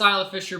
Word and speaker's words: Isla Fisher: happens all of us and that is correct pronounced Isla Fisher Butch weirdness from Ireland so it's okay yeah